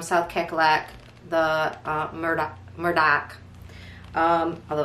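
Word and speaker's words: Murdaugh: if you're from south carolina the uh murder murdoch um although it's spelled like murder case um again and it's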